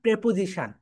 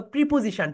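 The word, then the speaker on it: preposition: সময়ের আগে আমরা এট প্রেপোজিশন। আমরা সবাই কি শিখেছি বলতো? প্রিপজিশন। প্রিপজিশন। এটা রাইট প্রোনাউন্সিয়েশন হবে প্রেপোজিশন।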